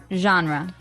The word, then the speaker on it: genre: pronounced differently we say genre genre or genre this kind of sounds French is it French I